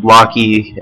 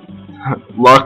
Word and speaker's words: Locke: Yeah, I really need to start pronouncing Lock properly. I've called him Locky ever since I was, like, really young, so that's why I keep doing that. Locke got Bane there because it was a counterattack.